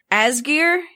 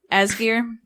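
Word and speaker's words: Ásgeir: I think it's just Asgeir. It's A with a little funny thing on it. Sgeir. Asgeir.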